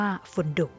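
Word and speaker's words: فندق: กลาง ยืน มา จาก ภาษา อาหรับ ที่ อ่าน ว่า ฝุน ดุก แปล ว่า โรง แรม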